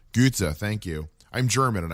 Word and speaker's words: Goethe: of the story of Faust by can you pronounce the dude's name I can Goethe Goethe thank you I'm German and I can't pronounce